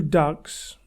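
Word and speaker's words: DUKW: They also had 2 ducks with London Fire Brigade ladders on. A duck is spelt D-U-K-W and was an amphibious truck.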